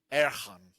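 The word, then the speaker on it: אהרן: But so the Hebrew pronunciation is Erchan. Okay. Or whatever. And as soon as she said that, my Alabama went, that sounds like air horn.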